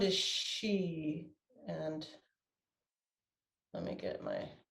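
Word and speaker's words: Xi: The sound is she, and let me get my cheat sheet back again.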